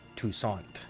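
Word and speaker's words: Toussaint: name of a city in Arizona this is toussant see t o u SS a i n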